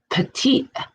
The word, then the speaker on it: Petit: this is the P petite family that's how they say it petite like little this this case was